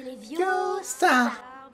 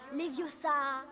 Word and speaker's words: Leviosa: C'est Leviosa. Et pas Leviosa.